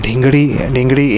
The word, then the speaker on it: dhingri: Okay, so it is called dhingri in Hindi. DHINGRI is the pronunciation.